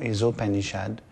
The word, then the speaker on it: Isopanishad: petit faire un petit cours sur le texte qu'on appelle ou panichade où on prononce en contraction isopanichad.